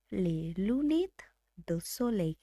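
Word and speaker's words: les lunettes de soleil: আমরা ব্যবহার করি সেটা সানগ্লাস, এবং তার ফ্রেঞ্চ উচ্চারণ হলো লে লুনেট দো সোলেই।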